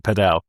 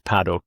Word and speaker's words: padel: kind of the pronunciation padel. However, ask a purist and they'll say it is paddle.